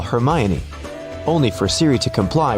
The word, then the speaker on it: Hermione: Maybe you've said, "Siri, call Hermione." only for Siri to comply with calling Herion.